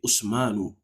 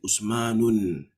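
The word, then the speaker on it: عثمانُ: Okay, Usmanu, you never say Usmanun.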